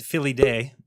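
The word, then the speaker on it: Filii Dei: what is that so vicarius i think it's philly day that's how you say it is the uh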